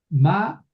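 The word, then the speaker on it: מָה: Eh, ma, eso si hay que pronunciarlo. Ma ja Adam. Adam. Ma Adam es este hombre. Eh, sí, fíjate que es ma en vez de mí.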